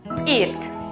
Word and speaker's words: eat: Por lo tanto, la pronunciación correcta es eat.